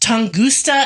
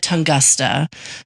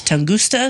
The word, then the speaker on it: Tunguska: So our last Origin of Weird was on the Tunguska event, which is pronounced Tunguska, and I said Tungusta. So there was a person in South Carolina who said it was Tunguska.